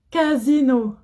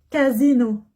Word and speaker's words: Casino: Une marque de supermarché, Casino. Casino. Regardez. A, c'est une voyelle. I, c'est une voyelle. Je dis Z. Casino.